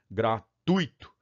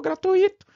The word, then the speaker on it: gratuito: no meio tá vendo próxima vez que alguém falar para você ou gratuito gratuito você falei é gratuito não é o hiato você está cometendo uma sílaba da você está pro e a palavra de maneira incorreta tudo bem gratuito é um ditongo tá se gratuito é